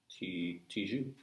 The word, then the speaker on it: Tijoux: I think it's French, Tijo, but she's How do you spell it? Chilena. I can tell you. Tijoux. Tijoux. Okay, good. Tijoux. Good, because I have a song where I rhyme it with the word you, so.